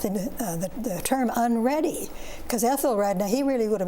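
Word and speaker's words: Æthelred: me explain about the the term unready because Ethel R now he really would have been a would have been pronounced that way and the red part of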